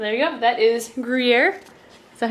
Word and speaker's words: Gruyere: That is Gruyere. Is that how you pronounce it?